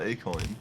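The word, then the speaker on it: Akoin: I'll ask if they can convert it all to Acoin. Yeah. Is it actually called A-coin? Yeah. Yeah, that's going to be the currency of Akon City. Of course, it's spelled with a K.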